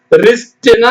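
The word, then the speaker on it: wrist: எப்படி படிக்கணும் wh ol e whole ஹோல்னா முழுசும் ரிஸ்ட்னா சொல்றோம் ரிஸ்ட் வாட்ச்ன்னு தான் சொல்லணும் சரிங்களா wr ஐ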